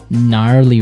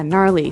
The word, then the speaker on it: gnarly: Gnarly run. Yeah. Gnarly. So, an interesting word. It's spelled G N A R L E Y. Okay. So, but you don't say gnarly. No, you say gnarly.